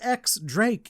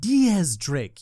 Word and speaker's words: X Drake: the interviewer going ah Mr X Drake is it it's pronounced Diaz Drake you uncultured swine you know what that's